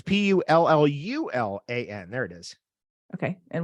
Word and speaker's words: pullulan: So I always choose vegetarian or Puluan capsules. What's that last thing you said? Can you spell that? Yeah, Puluan is Pullallan. I've never heard of that before. What is that? Sorry, it's Pullulan.